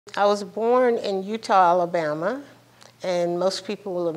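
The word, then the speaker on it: Eutaw: I was born in Utah Alabama and most people have never heard of it it's spelled with an e e u t a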